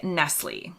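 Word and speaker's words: Nestlé: is correct Nestle the accent on the last e is what gives it away changing the final sound into Nestle instead of nestle or Nestle again you'll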